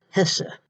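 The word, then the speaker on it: Hesse: art one of them is eva hessa h-e-s-s-e pronounced hessa i looked at her i looked her up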